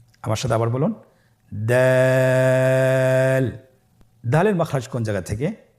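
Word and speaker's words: دال: এই হরফটি উচ্চারণ করার সময় আমরা অবশ্যই 3 আলিফ টেনে পড়ব। দাল, আমার সাথে আবার বলুন, দাল।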